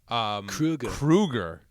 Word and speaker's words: Kroeger: We've been pronouncing his last name wrong this entire time. Did you hear about Kroeger? this? Kruger. Okay. Yeah, it's Kruger.